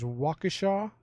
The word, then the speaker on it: Waukesha: these cities and you tell me if you pronounce them correctly so the first one is oconomowoc the next one is waukesha followed by mukwonago and i'm gonna try this